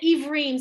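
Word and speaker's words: עברים: Ivrim. So Sherry, that's the word again. So we have an E and a Vav blended. Iv, syllable one, reem, syllable two. Ivrim. Pokeach ivrim.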